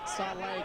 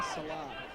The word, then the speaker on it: Saleh: Getting a tweet in at Footy AFL just to point out your pronunciation is wrong. So keep on toes. If we can get a correction, that'd be fantastic. Saleh going by Salah.